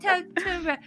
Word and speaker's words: Totoro: It's Totoro.